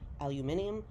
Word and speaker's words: aluminium: three thousand different shaped aluminum or as the british say aluminium sheets that are folded